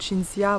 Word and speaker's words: Cinzia: Donc Cinzia, bon ça s'écrit Cynthia, mais ça se prononce Cinzia.